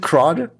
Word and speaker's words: CRUD: What is CRUD? Am I pronouncing create, read, update, delete? Is it CRUD? CRUD, yeah. CRUD.